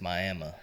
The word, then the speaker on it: Miami: Well, I was born in Miami, Oklahoma, and yes, it's Miami, even though it's spelled Miami. For some reason, that's how they go about things.